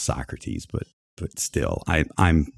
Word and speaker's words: Socrates: the place that that Socrates describe right oh my God yeah okay I know it's pronounced Socrates but but still I